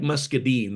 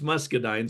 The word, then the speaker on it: muscadine: It looks like muscadine, the word does, but it's pronounced muscadine, supposedly.